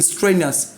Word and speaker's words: strenuous: As far as it ends in UOUS, the stress must be the second to last. And what's the second to last syllable in strenuous? Is stre.